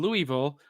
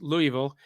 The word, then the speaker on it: Louisville: He says WDRB in Louisville, and that's how it's pronounced, folks, Louisville, used to play a lot of kaiju movies